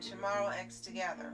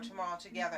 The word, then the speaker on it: TOMORROW X TOGETHER: level by Sano and tomorrow X together or tomorrow together actually you don't pronounce the X while the ending theme